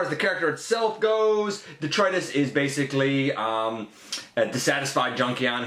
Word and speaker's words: Detritus: And yes, indeed, we plug along with the Legacy Evolution Detritus. Or Detritus. It's pronounced a couple of ways. I actually looked at the phonetic spelling of it. I like the pronunciation detritus.